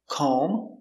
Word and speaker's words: comb: whenever you see m b at the end of a word the b is always silent these are only some